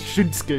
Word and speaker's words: Shinsuke: Shinsuke, aber das U spricht man ja wieder nicht aus. Shinsuke irgendwie so.